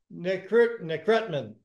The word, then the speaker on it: Nekrutman: Today, from Israel, we have David Nekrutman.